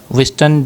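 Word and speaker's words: Wystan: विस्टन डब्ल्यू वाई एस टी ए एन ह्यू एच यू जी एच यू एन ऑडिन।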